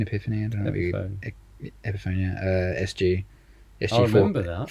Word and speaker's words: Epiphone: How do you pronounce it? Epiphone? Epiphany? I don't know. Epiphone. Epiphone, yeah.